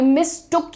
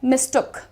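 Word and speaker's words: mistook: अरे आई मिसअंडरस्टूड, आई मिस्टुक यू फॉर my brother. तो इसका प्रोनाउंसिएशन क्या है, मिस्टुक, मिस्टुक, मिस्टुक। तो अब आपको इसे भी यूज करना है ना, मिस्टूक नहीं बोलना है इसको।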